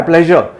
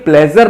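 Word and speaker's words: pleasure: सा ध्यान रखिए कि ये प्लेजर नहीं होता, इसकी करेक्ट प्रोनाउंसिएशन है प्लेजर। बोल के देखिए, ट्रेजर, मेजर, ये जितने भी वर्ड्स हैं जो इससे बोलते हैं उसमें ज आता है।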